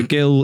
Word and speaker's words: Gil: oh by the way is short for gilbert so who it's a hard g as in girl and not as in jail oh sorry they realized um yeah okay so gil is saying there that